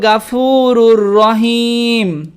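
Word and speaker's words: الغفور الرحيم: ওয়ারহামনিকাল গফুরুর রাহিম অনেকেই বলে আনতাল গাফুরুর রাহিম কেমন করে উচ্চারণ করে পড়তে হবে গফুরুর রাহিম হামজা নুন জবর নুন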